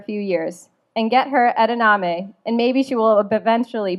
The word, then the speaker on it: edamame: Take her on sushi dates, even after you've been married for a few years, and get her edamame, and maybe she will eventually pronounce it correctly. Keek, it's edamame.